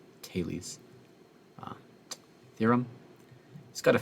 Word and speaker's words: Thales: is his fails or sometimes we pronounce it thales but i don't know why i think it's actually a taylee's uh theorem he's got